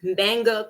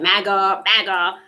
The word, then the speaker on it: manga: And listen, for the longest time, I could not pronounce or say manga correctly. I was like maga.